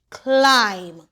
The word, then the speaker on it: climb: The B is silent. C I'm climb.